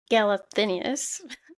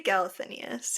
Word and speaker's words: Galathynius: We find out that Celaena is Aelin Galathynius. I don't know. Is that how you say her name? Galathynius? Yeah. Yeah. Yeah, I say Galathinius, yeah.